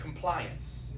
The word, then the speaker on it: compliance: When you said complaints, I heard the word compliance. Yes. Right, which sounds like obey. It's a slightly different word. Yeah. Complaints, two syllables. Compliance, 3 syllables.